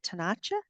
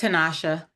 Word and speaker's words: Tanasha: Is it Tanacha? Tanasha. It's Tanasha.